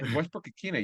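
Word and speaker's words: Westbrook-Ikhine: Yeah, Westbrook-Ikine.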